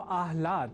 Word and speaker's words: आह्लाद: अर्थात आह्लाद को आह्लाद इस स्वरूप में न समझकर या न लिखकर हम आह्लाद अर्थात पहले ह और बाद में ल इस अक्षर विन्यास से युक्त शब्द आह्लाद का ही लेखन और तदनुसार शुद्ध उच्चारण करेंगे।